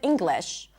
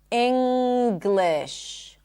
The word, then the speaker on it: English: However, when you see the ng spelling pattern in the middle of a word and it's not right before a suffix, for example, in the word English or in the word finger, you actually pop the g. It's not that you pop the G. There is a G sound in addition to the M sound. Finger, English, hungry.